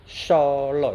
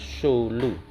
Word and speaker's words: Solo: Yang betul itu Solo ya, bukan Sulu.